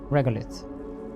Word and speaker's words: regolith: We need to excavate regolite. What did he call it? Regolith. He pronounced it in a weird way.